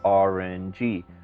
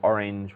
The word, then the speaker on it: orange: They'll often say orange. So it's actually orange, which is 2 syllables, but because it's got